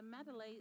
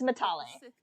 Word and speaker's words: Matale: I was outside the Enclave when my master left me at the Matalay estate. Matalay? It's Matale. Say it correctly. All the Matalays died. Matale. It's Matale. The estate was burning.